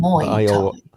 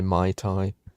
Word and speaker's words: Muay Thai: So you say it Muay, but Muay Thai. I always just I suppose Yorkshire it and just say Mai Tai.